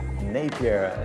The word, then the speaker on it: Napier: nome da cidade né a forma correta é napier segundo A moradora local